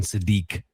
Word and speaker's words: Sadiq: It is it is pronounced Kenyon Sadi, not Sadic. That's my bad.